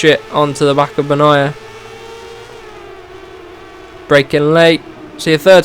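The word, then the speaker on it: Bagnaia: fnatic crashed and here's benaiah it's on correcting me it's not bad no you don't pronounce the G so silent G correct me if they're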